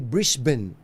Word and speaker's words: Brisbane: Sa amin sa Australia sa sa Brisbane alam niyo po yung bris hindi pala Brisbane yan. Ang bigkas pala diyan na ul ay Brisbane ah sa may Queensland.